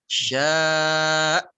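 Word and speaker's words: شاء: Nabroh itu sifat menekan pada suatu huruf, khususnya di sini pada hamzah. Cara membacanya adalah dengan ditekan, dihentak. Illa bima syaa, ditekan.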